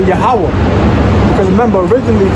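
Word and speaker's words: Yahweh: look up that word Jehovah in the Hebrew is yahwah so that's how you say Jehovah in Hebrew yah yeah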